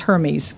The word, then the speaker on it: Hermes: This is from mythology, and it's pronounced Hermes, okay?